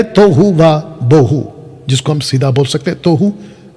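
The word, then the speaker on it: תֹהוּ וָבֹהוּ: लिखा है तोहू वा बोहू, जिसको हम सीधा बोल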